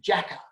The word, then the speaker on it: Jacka: Now, Jackie actually changed the name to Jacka, so it would rhyme with Macca, so she calls herself Jacka Macca.